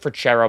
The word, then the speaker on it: Freccero: So my name's pronounced Frachero, by the way.